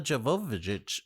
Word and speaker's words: Jovovich: these movies aren't Resident Evil movies they're Mila Jovovich movies are you gonna say her name differently